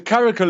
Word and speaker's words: caracal: I've seen you photograph extensively, which is the caracal. Am I pronouncing that correctly?